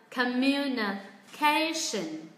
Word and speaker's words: communication: Communication.